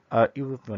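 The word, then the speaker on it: European: Mister Kamal is ইউরোপিয়ান, এখানে answer হচ্ছে এ because এখানে কি ভাওয়েল হওয়া সত্ত্বেও এখানে ইউ এর মতো উচ্চারণ আছে, এই জন্য হবে এ হবে।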